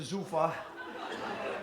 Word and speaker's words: Zufa: That's my math teacher, Mr. Zufa. Rhymes with loofah, so you can remember.